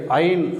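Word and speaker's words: עין: இந்த எழுத்தை ஐன் அப்படின்னு உச்சரிக்கிறோம்.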